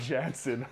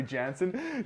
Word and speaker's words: Jansen: janice uh and then i mess up jensen i should say that but i can't say jansen jansen harkins is gonna